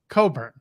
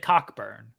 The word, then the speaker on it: Cockburn: Coburn. You said Cockburn. Yeah, it's spelt Cockburn, but it's pronounced Coburn.